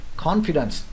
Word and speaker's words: confidence: Confidence, nhấn lần đầu.